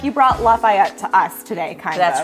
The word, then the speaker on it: Lafayette: is like you brought Lafayette to us today kind that's right Lafayette yeah sorry that's okay everyone pronounces it like a city in another state but actually if you're from Lafayette its Lafayette Lafayette well thank you so